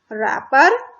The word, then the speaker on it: wrapper: रैपर, W, इसमें W क्या है, साइलेंट है, ठीक है। इसमें लिखते हम W है लेकिन बोलते नहीं है।